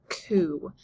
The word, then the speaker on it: coup: So first, let's talk about the word coup. It has this kind of silent T at the end, and it's short for coup d'etat.